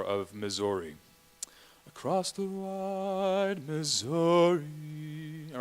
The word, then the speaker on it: Missouri: Across the wide Missouri. All right. Sometimes they call those shadow syllables. Okay. Where re is dramatically less than zo, right? Missouri, right? It kind of brings out a musical idea there.